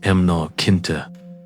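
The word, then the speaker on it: mná caointe: To understand the banshee, you must first understand the emancoin pronounced emnar kinta.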